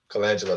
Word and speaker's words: Colangelo: um Jerry Colangelo and that was his name Colangelo that's how you say it yeah and um